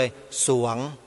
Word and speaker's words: สรวง: ออก ยาก เพราะ ฉะนั้น เวลา อ่าน ออก เสียง ต้อง อ่าน ส เสือ ตัว เดียว เลย สวง แต่ เวลา เขียน ต้อง มี รอ เรือ ด้วย อัน นี้ ขอ อนุญาต